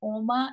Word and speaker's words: Alma: So, Alma, am I saying it right, Alma? So what's really funny is they say it different on each side of the state. So when I lived in Georgia, they would say Oma, and when I lived